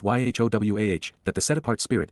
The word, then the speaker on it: Yahowah: previously considered the fact that God's name is pronounced y wah that the set aart spirit is feminine that